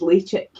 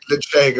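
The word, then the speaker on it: Ledaig: So Lechik is how you pronounce Lady. It's how it's written. But it isn't, and it isn't, because I remember Billy was trying to work out the correct way to pronounce this, and we asked two people at the distillery, and one said Lecheg and one said Lechek.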